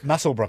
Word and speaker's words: Muswellbrook: Muswellbrook it's pronounced, is it?